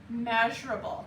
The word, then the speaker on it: measurable: Do you see the apple? It's like able. Measureable. How many was that? Five. Measureable. Oh, four. Four. That's right. Four syllables. So, you know you're saying it right if you put four syllables in there.